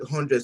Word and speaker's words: Hondread: But most people just pronounce it 100. So I just let them have the feel of that the pronunciation is still 100, you know.